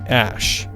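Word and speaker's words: Æ: He said on the Joe Rogan Experience podcast that X is said like the letter and is said like Ash.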